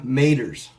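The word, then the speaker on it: Maitre: Apparently, it is these M-A-I-T-R-E. I looked them up. They call them maters. Maters. That's exactly how you say it. Pretty much how it's spelled.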